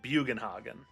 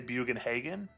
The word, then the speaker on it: Bugenhagen: How do you pronounce uh So, I pronounce it Bugenhogen. As a kid, I used to say Bugenhagen. But I'm feeling a little bit more educated in my adult life. So I say bugenhogen. So German. Bugenhogen.